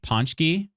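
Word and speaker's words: pączki: Polish dessert that traditionally comes out around Mardi Gras, Fat Tuesday, Lent every year is pronounced like ponchki.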